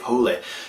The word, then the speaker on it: Hole: Initially I thought it was Harry Hole, but it's actually pronounced Hule.